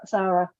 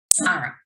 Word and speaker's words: Sara: and today's guest is the very very fabulous Sara hello Sarah hi Michelle and I keep saying Sara like it's a Sara instead of Sarah how how do you actually say your name s Sara Sara SAR so I was getting it right it's